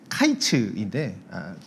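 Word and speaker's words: קַיִץ: 게다가 이제 여름 과일이라고 하는 히브리 발음은 이제 카이츠인데 끝이라고 하는 히브리어는 이제 캐츠라는 발음을 씁니다. 약간 이제 언어 유희죠. 그래서 여름 과일과 이제 끝이라는 이 두 용어의 발음이 이제 매우 유사하기에, 그리고 하나님께서 이제 2절에서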